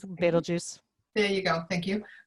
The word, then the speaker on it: Betelgeuse: I never quite know how to pronounce it. Betelgeuse.